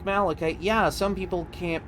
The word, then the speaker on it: malachite: Like I guess even like pronouncing it malatite isn't that weird, but like I learned it was supposed to be malachite.